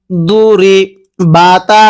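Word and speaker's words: ضربت: দ পেশ দু রজ দুরি বাতা জবর বাত দুরিবাত এই দকে আমরা যদি দাল উচ্চারণ করি তাহলে পড়াটা সহি শুদ্ধ হবে না কিভাবে পড়তে হবে দবাতন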